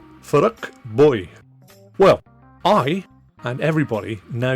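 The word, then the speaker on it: Phuc Bui: perspective so why does a name that looks like p h u c Bui seem to have an english- looking pronunciation of of fuk buy actually get pronounced by differing YouTube videos as F boy well I and everybody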